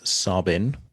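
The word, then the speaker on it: Tsabin: Her birth name is Sabin, with a silent T at the beginning, just to anyone who wants to Google it.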